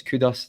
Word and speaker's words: Kudus: So I knew they had a few good players, and I wasn't surprised when it's Kudus, that's the way you pronounce it, scores that goal.